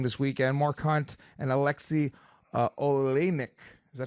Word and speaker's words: Alexei Oleinik: Mark Hunt and Alexei Oleinik. Is that how you say it? Yeah, that's right. Alexei Oleinik.